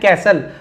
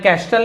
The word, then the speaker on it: castle: इसे पढ़ना भी कैसे, सैंड कैसल। मैं कैस्टल नहीं बोल रहा हूं यहाँ पे, ऐसा क्यों है?